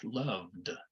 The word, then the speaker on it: loved: But loved, on the other hand, we're already making our throat buzz. Our vocal cords are already working. So we're going to let them continue to work. We're going to make the D sound, loved.